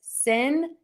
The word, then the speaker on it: sincerely: It's sincerely sincerely. Sincerely, sincerely, sincerely. So, think about sin and sear like your ear and then end with that e.